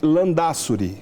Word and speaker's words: Landázuri: vamos apresentar então a beata guadalupe ortiz de lã da suri é assim que pronuncia andar sobre a espanhola foi natural de madrid beata guadalupe ortiz de lã da suri que no mês de maio de 2017 ov